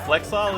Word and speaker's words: flexile: a flexile dude and it rhymes with Exile so it really sounds